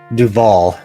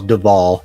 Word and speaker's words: Duval: Um uh uh it's uh Dval Duval. I may have mispronounced it earlier. D U V A L Dval is the guy's name.